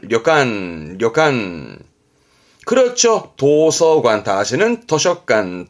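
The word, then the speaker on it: 旅館: 여관 발음은 료간, 료간.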